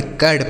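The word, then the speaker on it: curd: हो गया ठीक है इसे कुड्ड नहीं पढ़ेंगे कर्ड पढ़ेंगे आज तक आपने यही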